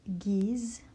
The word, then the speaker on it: giz: Så det här G kan uttalas G eller J.